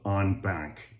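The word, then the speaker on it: en banc: uh the United States Court of Appeals for the Federal Circuit heard these consolidated appeals in what's called on bank. That's spelled E N B A N C which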